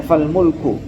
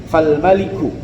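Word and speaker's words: fal-maliku: Kalau di tulisannya di sini di saya fal mulku ya. Kalau fal mulku itu berarti kerajaan. Kalau itu dari susunan katanya harusnya dibacanya fal maliku.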